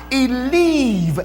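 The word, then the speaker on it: Eliab: verse 28 this oldest brother his name is pronounced he leave as he leave ah that's what his name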